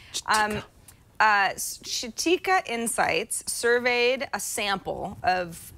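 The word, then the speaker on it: Chitika: it easier come on chatika i want to say chiquita it sounds like chiquita but it's not spelled like chiquita chatika c-h-i-t-i-k-a um uh shatika insights surveyed a sample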